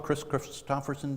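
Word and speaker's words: Kris Kristofferson: Remember the old song Chris Christopherson did? I actually pronounced his name correctly.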